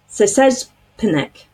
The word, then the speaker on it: Szczepanik: I listened to a video to make sure I can pronounce her name. Szczepanik.